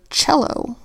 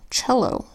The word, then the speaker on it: cello: exception here we've got the word cello where C makes the first sound of CH touch sound oh oh cello that's an exception and